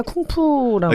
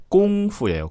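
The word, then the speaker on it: 功夫: 당시로는 이제 그 쿵후 선생으로 알려져 있었고 요즘에는 다 쿵푸라고. 그러니까 정확한 중국어 발음은 쿵푸? 꽁푸예요. 꽁푸.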